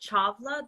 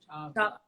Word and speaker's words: Chawla: Yeah, so it's pronounced Chawla. The W is kind of like a V. Chawla. Yeah, I know nobody knows that, so it's It's the Indian thing. The V and the W is switched.